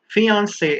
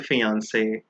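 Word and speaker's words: fiancé: fiance now please remember many people are confused and they think that these two words are pronounced differently but no fiance is a fiance whether it's a man or a woman the only difference is in writing remember the one with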